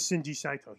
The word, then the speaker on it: Shinji Saito: Yeah, spell that. Shin. I got him. SHINJI SAITO.